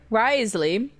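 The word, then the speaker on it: Wriothesley: Now, I'm not exactly upset that Risley, this is how I've learned, I've been saying his name wrong, as well as spelling it wrong, generally.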